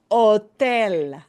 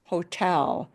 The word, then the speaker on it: hotel: ¿Dónde está el hotel? Hotel. We don't pronounce the H in a hotel.